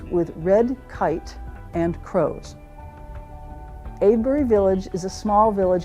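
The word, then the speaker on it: Avebury: I had not known about Avery until it's not Avery. It's Abury.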